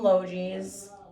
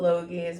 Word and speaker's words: Logee's: This plant was from Logee's. I call it Logee's, but it's actually pronounced Logee's.